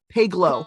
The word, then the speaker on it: Paglow: And whilst being taken into custody, Annie Paglow, is it Paglow or Pagelow? I've been pronouncing it, but Paglow. Paglow. Hard G.